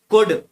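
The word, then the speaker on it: could: सिक्स में कुड, एल, L under silent रहता है।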